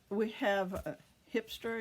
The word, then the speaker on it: Grijpstra: And of course we have Grijpstra and De Gier. G's are pronounced H in Dutch, and I'm trying to